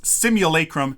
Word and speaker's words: simulacrum: dang it I forget it's simulacrum there's a long a in there simulacrum Frozen simul simulacrum